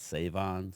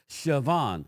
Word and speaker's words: Shavon: It's actually spelled S-H, but he pronounces it Savon. So it's not Savon, it's Shavon.